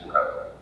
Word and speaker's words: rho: actually shows up, but the thing that looks like P in Greek is actually rho.